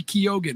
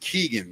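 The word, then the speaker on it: Keoghan: It's Barry Kyogan who set to play the drummer in this film. Wow. Yeah. I believe that's pronounced Keegan though, even though it has an O in it.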